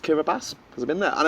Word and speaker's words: Kiribati: I know that Kiribati is actually pronounced Kiribati, because I've been there.